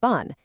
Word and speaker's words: 분: In Korean, when you're talking respectfully about people, you use the word bun, pronounced bun.